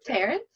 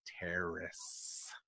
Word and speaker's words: Terrace: She said Terrence? No, you said Terrence. I want to hear this. No. How do you say it? Torrent?